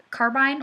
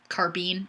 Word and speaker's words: carbine: A couple classes I've taken, part of the training included carbine or carbine. Honestly, I say it both ways, so whichever pronunciation you prefer.